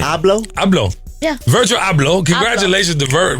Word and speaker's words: Abloh: Abloh.